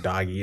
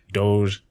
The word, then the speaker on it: Doge: Are you getting into, at the time we didn't even know how to, we don't know how to pronounce the name, like Doggy. It's like Doge.